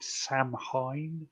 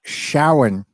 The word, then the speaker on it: Samhain: most people call it Sam Hain, but it's not a Shawan.